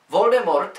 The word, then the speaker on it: Voldemort: Voldemort, jak řekla sama J.K. Rowlingová, by se správně měl vyslovovat Voldemort. A to proto, že je to z francouzské fráze Voldemort, neboli utéci smrti.